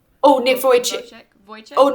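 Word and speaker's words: Vujicic: Nick what's Oh Nick Voych Voych.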